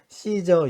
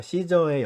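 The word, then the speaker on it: Caesar: 이사는 로마 황제를 말합니다 씨저 인데요 시저의 영어 스펠링을 이제 아마 그냥 이렇게 발음이 되는 대로 예전에 번역을 하다보니 가이사 라고 번역을 한 것 같은데요 이 사람이 로마 황제에게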